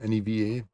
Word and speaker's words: Neva: Neva, it's pronounced Neva.